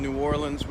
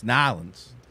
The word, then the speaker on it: New Orleans: is monday here in new orleans we are he said it wrong it's nylands in the french quarter uh